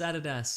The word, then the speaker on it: Adidas: Americans call it Adidas. Yeah. Incorrect. It's Adidas. Or it is. So or maybe Lüt Crate is actually pronounced Lüt Crate, and they're like, finally, somebody gets it.